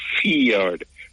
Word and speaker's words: fjord: That's why fjord pronounced like that, F-J-I-O-R-D. And it's fjord because you have I, the I have a sound for I, and it have a sound for E, like B-I-T, bit, right?